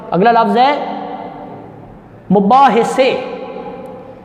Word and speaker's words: مباحثے: اگلا لفظ ہے مباحثے۔ یہ لفظ مباحثے نہیں ہے، مباحثے، اس کے اوپر بھی آئے گی زبر، یعنی کہ میم پر پیش، بے کے اوپر زبر، ہے کے اوپر بھی زبر، اور سے پر بھی آپ زبر لگا سکتے ہیں، نہ لگے تب بھی خیر ہے، لگا دیں تو بہتر ہے، مباحثے۔ اس کے بعد لفظ